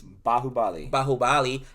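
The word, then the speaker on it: Baahubali: I know you just recently did a review of, how do I pronounce it? It's Bahubali, and I like that review.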